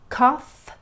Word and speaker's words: cough: The last sound is an F sound in words like cough, tough. Let's try those again and repeat after me. Cough, tough.